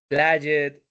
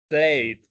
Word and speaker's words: played: In the case of pronunciation, uh, be careful with the past, with the pronunciation of the past, because this is the problem that I have been talking about all this time, of reading them like it was Spanish, or like that, like linked, played, no, select está bien, inspired. All of those words are bad pronounced. It should have been linked, played, inspired.